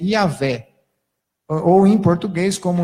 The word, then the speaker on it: Iavé: Em alemão, fala Iavé, apesar de escrever com J. Se fosse em latim, também diria Iavé, porque não existe o som de G em latim, e assim por diante. Então, se defende a pronúncia Iavé.